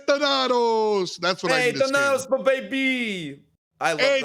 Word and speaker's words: Thanatos: So me saying Donato isn't really a problem. Can we talk about that? No, that's clean. That's clean. That's what you say, I think. It's how you say it, dude. I was wrong. It's Thanatos.